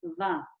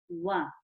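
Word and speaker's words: و: Okay, so the woe is pronounced by the circle of the lips.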